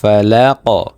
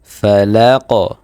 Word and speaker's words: فلق: যেহেতু কফের উপরে আমাদের জজম দিয়ে পড়তে হবে, সেক্ষেত্রে এই কফটা কলকলার হরফ হয়ে যাবে, কলকলার উচ্চারণ আমাদের করতে হবে। তাহলে আমরা উচ্চারণটা কিভাবে করব? ফালাক, ফালাক। পুরো আয়াতটা যদি পড়ি, قل أعوذ برب الفلق।